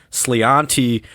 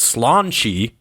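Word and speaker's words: sláinte: Again, I said it was Santi, which is not even close. Now, how in God's green earth our friends in Ireland got that word to be pronounced slanche?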